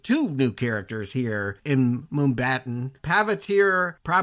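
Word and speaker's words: Mumbattan: They end up in the realm of Spider-Man India in, how would you pronounce that? Mumbatan? Okay. Yeah, Mumbai and Manhattan together.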